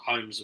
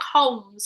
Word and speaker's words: Holmes: But it's a silent. Yeah, it's a silent L. So it's not Holmes. It's Holmes. It's a silent L, isn't it?